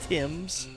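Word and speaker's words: Thames: Um, it's pronounced Tims.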